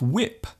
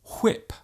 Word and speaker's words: whip: might say what and instead of whip they might say whip there is actually no need to pronounce the H so strongly just let the sound leave your lips naturally when what Christy whip there is no